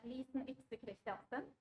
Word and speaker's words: Lysen Christiansen: My name is Lysen Christiansen, pronounced in my native Norwegian.